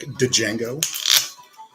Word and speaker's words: Django: de Jolly Jolly Jolly or de jolly D is silent like Django um like I said a lot of ss